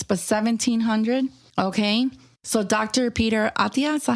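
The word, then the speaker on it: Peter Attia: Peter Atia, is that how you say it?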